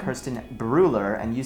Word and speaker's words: Brueller: I say Kerstin Brueller, and you say? Brueller. Brueller. It's like Austrian. the U. It's the U with the little dots?